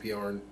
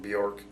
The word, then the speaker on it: Bjorn: You know, some people really like Bjorn, or as Dana called him, Bjork. That's just a form of disrespect. You want to, you know, mispronounce somebody's name.